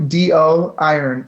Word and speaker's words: Doiron: it's do d-o iron i-r-o-n so how you pronounce that last name I'm not sure but it phonetically is do iron you can find me